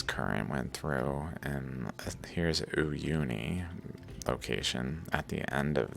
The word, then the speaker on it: Uyuni: but still this current went through, and here's Uyuni location at the end of this.